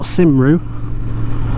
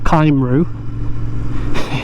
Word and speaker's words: Cymru: For those of you who don't know, the Welsh word for Wales, which is spelled C-Y-M-R-U, is not Cymru or Cymru, it's Cymru.